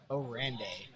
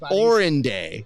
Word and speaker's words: Orende: It is Orende. Okay. Not Orenday.